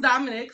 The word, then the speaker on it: Dominique: bit okay for starters my name is Dominique it is pronounced Dominic so I'm gonna give